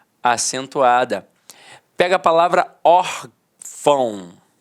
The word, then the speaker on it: órfão: schwahn marca de nasalização até porque se fosse uma Santo gráfico eu não falaria órfão eu falaria órfão e não é o caso nós falamos órfão então a sílaba tônica está na penúltima e é a acentuada